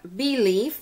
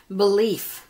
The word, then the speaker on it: Bee Leaf: tone and then lastly we have bee leaf which is spelled b e and then leaf together it's not like belief you know and that